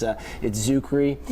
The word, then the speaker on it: Czuchry: Yeah, the extra C is a little tricky. It's Czuchry.